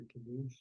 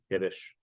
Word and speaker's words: kiddush: Is there a Yiddish word for kiddush? Kiddush. Just change the That's the pronunciation. word that I. You just change the stress, change the vowels a little bit, you get a whole new word.